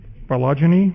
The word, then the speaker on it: phylogeny: How do you pronounce this, actually? Phylogeny?